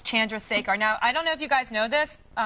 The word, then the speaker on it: Chandrasekhar: And it's crazy because you have the hardest last name, but every guy knows how to pronounce it correctly. They actually correct me on it. It's Chandrasekhar.